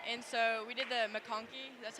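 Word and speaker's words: MacConkey: pool gutter right and so we did the makoni that's how you say it we did all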